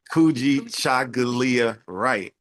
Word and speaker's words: Kykujichagulia Wright: This brother's name is Kykujichagulia Wright, and you can correct me if I didn't say it correctly. No, that's correct. Kykujichagulia Wright.